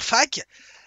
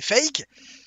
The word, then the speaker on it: FAQ: Hein, et puis tu peux même dire fac, tout le monde te comprendra. En anglais, ça fait fake.